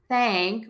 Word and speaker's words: thank: people um and so I think of the word thank with the short a but again that n influences it so we're not saying thing a thing wow with that long a it's that short a that's a little more open but it's a little bit longer heck at that long